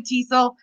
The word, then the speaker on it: TESOL: I pronounce it TESL, but that is not, there is no definitive. Some people say TESOL, some people say TESL. It's like tomato, we'll accept both.